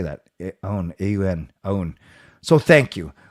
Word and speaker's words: Aoun: Aoun, A-U-N, Aoun.